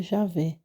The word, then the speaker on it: Yahvé: Com o acréscimo dos sinais vocálicos, tem-se a transliteração Yahvé para o português, que se pronuncia Javé, forma preferível ao nome Jeová.